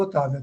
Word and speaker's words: Octavia: Então, ela ela vai a Otávia, eu eu pronuncio Otávia, tá?